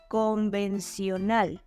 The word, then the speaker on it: convencional: The only difference is that in Spanish, we don't pronounce the letter T as a sh, as in conventional. And in this case, instead of adding a T, we add a C, which is pronounced in Spanish as an S. So the final sound is convencional. And also, the stressed syllable is in the last position. And we emphasize the letter A again.